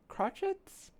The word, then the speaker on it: crotchets: Uh, quarter notes are called cro crotchets. spelled like crochet but but they pronounce it differently.